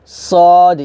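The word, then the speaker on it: ص: আমরা এই সদে অনেক ভুল করি, মানে সদটা আমরা সিনের মতো উচ্চারণ করি, তো সদ কিন্তু সিনের মতো উচ্চারণ করলে হবে না, সদ মোটা করে উচ্চারণ করতে হবে, সদ ইয়া জের সি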